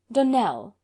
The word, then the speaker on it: Donnell: would set it right donnell accent on the last syllable and sint claire on